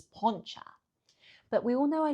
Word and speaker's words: poncha: So we all know I love poncha. Apparently I say it wrong, it's poncha, but we all know I love it.